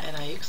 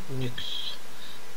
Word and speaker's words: NYX: Also davor habe ich es immer NYX ausgesprochen, aber mittlerweile weiß ich, dass es total falsch ist, sondern die heißen NYX.